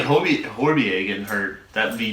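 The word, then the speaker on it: Højbjerg: I mean, even like Horbier getting hurt, that would be massive against them. Horbier. Yeah, that's how you say it in Danish.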